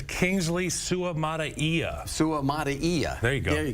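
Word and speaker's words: Suamataia: uh sutia go ahead it's Kingsley Su Maia Su Maia there you go there you go I said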